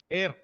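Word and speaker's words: heir: How about this word? Air. H silent. H is silent again?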